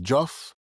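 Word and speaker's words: Diouf: Her last name is Joff. It's spelled D I O UF, slavery's exiles, the story of Marinage in North America.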